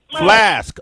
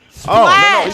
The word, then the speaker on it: Splash: I thought he said Flash, like Splash. water. Flask. Oh, Flask. Splash.